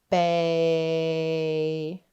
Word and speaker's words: bay: The Y is silent and A says his name. A. Let's tap our sounds. B, A. Let's stretch our sounds into each other. Bay.